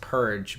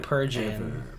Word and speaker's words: Purge: I believe it's pronounced purge, by the way. Not purging. Purge.